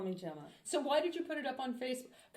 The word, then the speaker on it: Gemma: And my teachers would sit there and go, Gemma, Girma, Gemma, and I go, just call me. So everything legitimate is Gemma. Are you telling me that they really could not They pronounce didn't. They couldn't Gemma? get it. They couldn't get it. They would go Gemma. And I said, Gemma, it's a gem, because it means jewel.